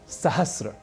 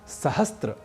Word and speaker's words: सहस्र: इसी प्रकार एक और शब्द है सहस्र, जिसे हम प्रायशः सहस्त्र बोलना और लिखना शुरू कर देते हैं